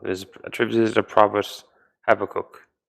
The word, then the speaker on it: Habakkuk: attributes is the problems have a cook that's how it's pronounced yeah but uh Sheamus